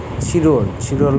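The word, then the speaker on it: 칠월: জনন জাকনিয়ন ছিরুলে ওয়াসয়. আমি. জনন শব্দ হচ্ছে আমি. জাকনিয়ন হচ্ছে গত বছর. ছিরুল হচ্ছে ছিল থেকে আসছে হচ্ছে, এটা উচ্চারণ হবে ছিরুল.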